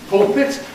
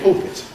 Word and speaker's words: pulpit: Is it the pulpit or the pulpit? Some people say one, some people say the other. I say pulpit.